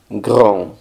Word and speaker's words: grand: grande en franc sería gr gr la n hace que la a suene nasal gr y la d no suena gr y esta palabra